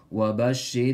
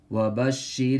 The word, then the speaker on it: وبشر: لِلْكَافِرِينَ وَبَشِّرِ الَّذِينَ آمَنُوا وَعَمِلُوا الصَّالِحَاتِ أَنَّ لَهُمْ جَنَّاتٍ تَجَرِي أَنَّ لَهُمْ جَنَّاتٍ تَجَرِي مِنْ تَحْتِ الأنهار وبشر الذين So hold on to the sheen for a moment Raw empty mouth وبشر